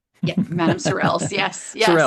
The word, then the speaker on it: Sorrel's: Madam Sorels. Yes. Yes. Surels.